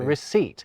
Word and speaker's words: receipt: Renaissance scholars did almost exactly the same thing with the word doubt, and they introduced that pretentious P into receipt.